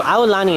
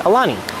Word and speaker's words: Aulani: oh well she doesn't say our London so a lolani is the way that it's supposed to be pronounced a lot of people pronounce it Aulani which is fine too that's totally fine that's